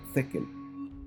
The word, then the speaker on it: tekel: En hebreo, la palabra se escribe con una shin y se debiera pronunciar con esa sh, shekel. Pero en arameo, usualmente se cambia la shin por la taf, y por eso escuchamos no shekel, sino tekel, tekel o tekel.